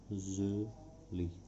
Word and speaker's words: usually: इसका उच्चारण देख लेंगे, यूजली, यूजली। इसमें ए जो है ये साइलेंट है, इसका उच्चारण नहीं होता है, तो हम इसको पढ़ते हैं यूजली, यूजली।